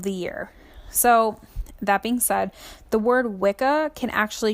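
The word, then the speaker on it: Samhain: see it written now it looks like it says samine but it's actually pronounced sa um and that is um the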